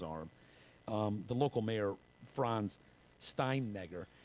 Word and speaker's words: Steinegger: The local mayor, Franz Steinegger, I call him Steinegger. With the It's- H. yeah, and I put the AH on the end of it, so it's Steinegger. That's how I pronounce his name.